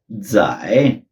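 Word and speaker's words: 在: जिसे हम कहते हैं जाए, ZAI रोमन अल्फाबेट्स में लिखा जाता है। जेड जैसे हमने देखा था इनिशियल्स में, इसकी प्रोनाउंसिएशन रहती है DS, जैसे वर्ड्स में हम DS बोलते हैं, तो ये बनता है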